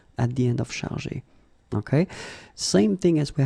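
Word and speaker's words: chargés: In both cases, you don't pronounce e and you don't pronounce s. So it will go like chargé, okay, for all the versions.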